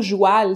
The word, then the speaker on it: joual: chercher un peu plus le mot joêl c'est une déformation du mot cheval cheval joêl - c'est une prononciation qui a été attestée en france en fait donc c'est